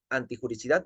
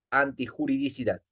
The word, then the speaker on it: antijuridicidad: a desarrollar la antijuridicidad no se menciona o no se dice antijuricidad porque es un término erróneo lo adecuado lo idóneo es denominar o llamar o mencionar antijuridicidad Sí arrancamos entonces con